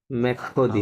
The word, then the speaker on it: mercredi: Eight o'clock 20h আচ্ছা এরপর হচ্ছে no mercredi মেখোদি à মেখোদি mercredi à 20h.